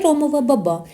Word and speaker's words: ромова баба: Так, це ромова баба з наголосом на другому складі.